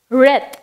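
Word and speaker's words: wreath: Next breath, inga w irukkunadala namba w breath illa breath appdin illa breath appdin solla mudiyadhu, namba adu breath nu solvom, ena w vandu silent letter inga.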